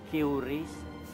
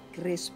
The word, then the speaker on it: QRIS: Qris, BCA. Oh, dibacanya Qris, Pak. Kan saya Christine Hakim, bukannya Qristine Hakim.